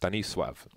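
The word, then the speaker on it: Stanisław: the bomb site trivia stanislaus named in Polish would be pronounced Benny suave and I believe he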